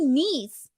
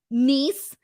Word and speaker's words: Nese: aew match against tony nice god this this match drove me crazy for the dumbest reason for the dumbest reason every single time commentary said niece instead of tony nice and they were just